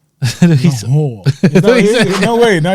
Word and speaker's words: Lahore: place called Taste of Lahore, yeah? It's like a little Asian Man, Indian put gaff. emphasis on the second part of that last word. What did I say? He's- Lahore.